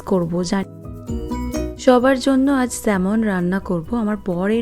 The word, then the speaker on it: salmon: তো বইতে পড়েছিলাম এই মাছটা, তখন উচ্চারণ করতাম স্যালমন, তারপর জানলাম স্যালমন না, স্যামন প্রনাউন্সিয়েশনটা।